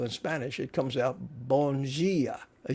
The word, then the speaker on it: bom dia: Sarah Souza, Bom dia. That's it. And they pronounce, in Portuguese, they pronounce their D's like G's.